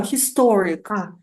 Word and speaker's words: historic: okay historic ah historic history no no no no historic historic second syllable stress okay historic yes MH